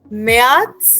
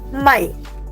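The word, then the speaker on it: Mai: okay April या लेट us revise now मोनाटर यार फेब्रुआर मयाथ्स अप्रैल April okay everybody follow still here next one is very easy spelling is different pronunciation is the same my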